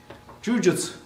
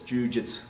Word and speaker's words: jujutsu: Jujutsu or jujutsu, right, is often pronounced jujutsu. Well, we get what you mean. You don't pronounce the ending jutsu. That U at the end, jujutsu, does go away, but it probably should sound something more like this, jujutsu, right, or jujutsu.